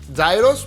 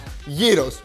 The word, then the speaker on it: gyros: Greek gyros and lesson number one it's not pronounced gyos but Yos my recipe is absolutely delicious homemade and much